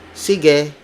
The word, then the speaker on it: sige: You would say like sige, which means okay. Sige, sige, sige. It's spelled as S-I-G-E.